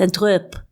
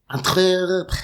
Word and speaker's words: Antwerp: You're not pronouncing it properly. That's why. It's Antwerp. Antwerp.